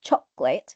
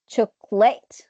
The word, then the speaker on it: chocolate: one is a stress if I say chocolate this is the right one according to the dictionary if you say tool it so you stress the second CLL which is incorrect if you stress the third syllable it would be cholate cholate which is incorrect again so the right or